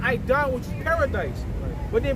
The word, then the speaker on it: Eden: When you go into that word Eden in the Hebrew, you pronounce it Aidan, which is paradise.